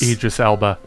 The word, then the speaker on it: Idris Elba: On August 10th, it was announced that Joey, can you pronounce the name for me? Because Idris Elba.